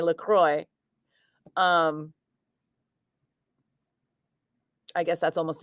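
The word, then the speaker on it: LaCroix: that and she's like laqua sweetie laqua because that's the designer Christian laqua and then they came out with lroy water because it's made in Michigan and even though Michigan is named after laqua in French it's Michigan so they say lroy um I guess that's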